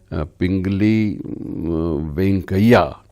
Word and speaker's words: पिंगली वेंकैया: हुए हैं और ये पिंगली वेंकैया इन्होंने पिंगले वेंकैया भी कुछ लोग कहते हैं इनका उच्चारण अलग-अलग है। कुछ लोग पिंगाली वेंकैया भी कहते हैं।